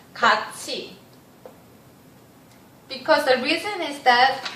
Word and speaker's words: 같이: Literally it's called 갓이. But you wouldn't, I suppose that you would never heard this word and this pronunciation from native speaker of Korean. Because Korean speakers would pronounce 같이.